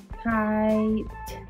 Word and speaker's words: kite: magic e word that means we don't say the E and this vowel says its name this vowel is I let's read it kite kite do you like